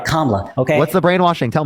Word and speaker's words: Kamala: Let me say her name right, Kamala.